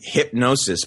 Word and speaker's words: Hipgnosis: It's actually Hypnosis, but it's spelled Hipgnosis.